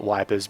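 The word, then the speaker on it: Ypres: I'm going to call it wipers because it's the Australian way of saying, you know, where's the actual There it is. The city of wipers. It's actually pronounced uh yippers or something like that.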